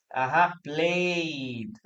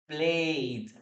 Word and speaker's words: played: In this case, the correct word is played. Played. Letter D. Played. Play. Played. Played. One more time. Play. Played. Letter D. Played. Guys, don't pronounce the letter E, please.